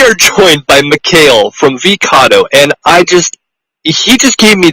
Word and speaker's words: Vecado: Vecado is a pretty unique name. It's 3 syllables, and what it stands for is vegan, CA cat, and DO dog.